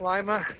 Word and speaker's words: Lima: my Sunday started so left Lima or Lima depending on how you want to pronounce it after nice breakfast